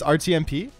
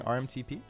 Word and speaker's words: RTMP: It's RTMP. RTMP? Am I saying RMTP? Really?